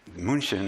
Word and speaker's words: München: And München is the German pronunciation from me, remember, it's not perfect, of Munich.